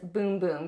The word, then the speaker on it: Bum Bum: It looks like it would be pronounced Bum Bum Cream, but I believe that it is Boom Boom Cream.